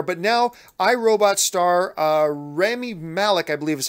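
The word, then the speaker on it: Rami Malek: he wasn't there but now I Robot star Remy Malick I believe is how you pronounce his name the Emmy award-winning actor from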